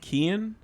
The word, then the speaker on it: Keane: of people know is my name is actually pronounced kian but when i was